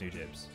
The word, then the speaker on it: Nujabes: new james today i i always pronounce it nujabes but some people say it's new james and i'm not i'm